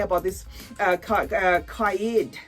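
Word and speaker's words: Qaa'ed: about this uh uh kayed kai it's spelled q double a hyphen e d you know so let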